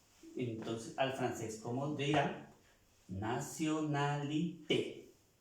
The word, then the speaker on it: nationalité: Nationalité. Vemos que esa E tiene acento, se pronuncia la E.